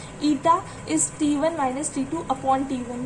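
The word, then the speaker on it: η: This is ईटा, ETA, eta pronounce करते हैं इसे, ईटा प्रोनाउंस करते हैं.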